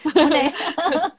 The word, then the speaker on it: Monet: Bacanya apa sih? Monet.